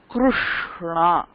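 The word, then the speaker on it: कृष्ण: So basically இந்த word நம்ம தப்பாவே ப்ரொனவுன்ஸ் பண்ணிட்டு இருக்கோம். இட்ஸ் கிருஷ்ணா.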